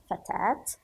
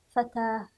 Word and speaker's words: فتاة: بنت لا يمكن أن أنطقه بأي شكل آخر، بينما حرف التاء المربوط له وجهان في النطق، إما تاء فتاة فتاة، أو هاء فتاة فتاة.